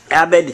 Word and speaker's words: Abid: Abid. Pronounced many different ways, but Abid is the way I like to go by.